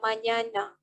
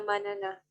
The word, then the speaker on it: mañana: So for this N here that has the curly thing up there, the way you pronounce it is ña, not na. So you will say hasta la mañana, not hasta manana.